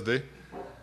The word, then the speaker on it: DUH: is to talk about Duke the tool we do at SCI 5 yeah you can pronounce it da it's fine but it's actually Russian for spirit Duke actually all Slavic language